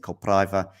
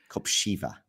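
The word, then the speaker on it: Kopřiva: Draper winning of course against Copra uh early today. Having not too many problems there. Am I mispronouncing the name? Yeah. Yeah, it's copsha. Copshiva. Okay, nice. Yeah, it's that R with with something.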